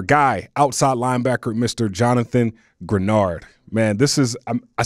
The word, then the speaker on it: Greenard: talking about our guy outside linebacker Mr Jonathan granard man this is I said it right right